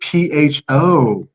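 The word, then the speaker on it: phở: but why is it PHO? It sounds like pho." She's like, "No, Mhm. there's an accent on the top of the O, so it's pronounced pho."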